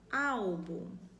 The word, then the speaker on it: álbum: Veio uma outra palavrinha, álbum. Qual é a sílaba mais forte? Ah, é essa daqui.